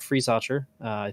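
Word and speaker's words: Friesacher: drivers zolt baumgartner and patrick freeze archer pretty sure that's how you pronounce his last name um as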